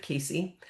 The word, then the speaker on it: Casey: Like, people often mispronounce my name. They will say Cassie instead of Casey.